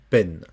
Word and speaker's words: peine: EI, c'est toujours et. Scène, peine.